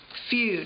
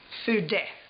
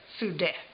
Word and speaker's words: Fude: She thought that I was saying feud. Is that how you spell it? No. You know, feud, like a fight. And I said, no, it's feud. And she said, oh, it's pronounced Fude. Fude.